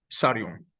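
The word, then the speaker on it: Tsarion: Michael Sarion, con T-S-A Sarion.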